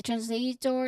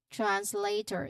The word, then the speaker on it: translator: A translator is a person who can interpret or rely or give a reliable translation on your phone. Okay. Translator. The emphasis on this part is on the second syllable lei which hasn't tip thong a sound.